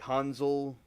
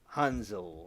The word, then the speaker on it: Hansel: thought it was like Hanzel but it's actually uh Hanzel like like kind of like the with the more of a Z sounding to it than the S sound because the way the